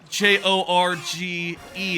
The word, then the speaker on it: Jorge: I looked up how J O G J O R G E is spel is is pronounced and I found out it's Jorge.